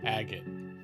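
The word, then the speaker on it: Agate: actually sir it's pronounced agot you know like maggot without the M oh or like uh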